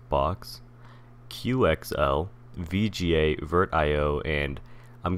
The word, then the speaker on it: Bochs: So the first thing I want to cover are the four that I'm going to look at, which is Bochs, which I believe is pronounced Box, QXL, VGA, VirtIO, and I'm going to talk about Ramfb, but I won't be showcasing it.